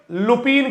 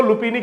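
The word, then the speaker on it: lupini: Rhizobium लुपिन कह दो, लुपिनी कह दो, एक ही बात है भाई साहब, वैसे लुपिन ज्यादा प्रोनाउंसिएशन बढ़िया इसका।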